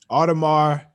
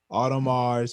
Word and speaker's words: Audemars: umbrella in the maybach yeah i got more audemars piguet the ap as people call it audemars piguet another watch yes auto mars paget say it again all the mars not the big the piguet part piguet p-i-g-u-e-t